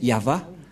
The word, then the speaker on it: Yahvah: au milieu Yod V c'est l'alphabet hébreu qui est prononcé yava et dans Genèse 2133